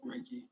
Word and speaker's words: Reiki: How do you pronounce it? Reiki.